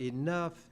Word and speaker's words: enough: English is one of the most difficult languages to learn because that group of letters, O-U-G-H, in the word enough, it sounds like uff.